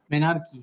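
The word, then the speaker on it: menarche: এটার উচ্চারণটা হবে কি? মেনার্কি।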